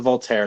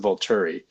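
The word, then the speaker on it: Volturi: It's not the Voltater, it's the Voluri. I also do. Voltater is like a philosopher.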